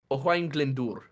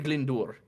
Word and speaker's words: Glyndŵr: Owain Glyndŵr. Owain Glyndŵr. It's hard for me to not put the H in between the W there, because I'm so used to German. But yeah, Owain Glyndŵr.